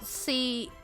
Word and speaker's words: Cwm: And it sounds like male ejaculation. I am so sorry. Oh. So it's spelled CWM and is pronounced Cwm.